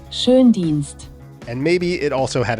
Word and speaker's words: Schoendienst: So the umlauted O in German is basically the same as OE.